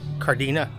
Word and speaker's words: Cárdenas: Cardina. You don't pronounce that S at the end. It's kind of like the G in lasagna. It's silent. So Lázaro Cárdenas.